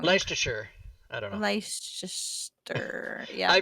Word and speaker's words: Leicestershire: is in i'm going to pronounce it wrong leicestershire i don't know yeah i probably we would say that's pronounced we would say that's pronounced uh lace esther that's what we i don't know how to